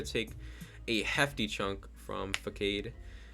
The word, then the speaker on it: Facade: So I bring in Incineroar to take a hefty chunk from Facade. I know it's pronounced Facade. I just like to say Facade.